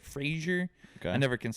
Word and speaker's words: Fraser: some of the names Matt Frazier Frasier that's like Razer but Frasier I never can say